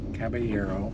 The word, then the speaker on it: Kaballero: Caballero. Yep. And correct pronunciation right here.